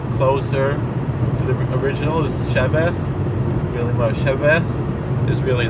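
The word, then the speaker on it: שבת: It's not exactly a B, but it's not a V. It's like a soft B in between a B and a V, and it's more like a TH, and that's the real way.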